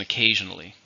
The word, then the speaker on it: occasionally: an adverb how many syllables and occasionally five stress on the second syllable listen to the sentence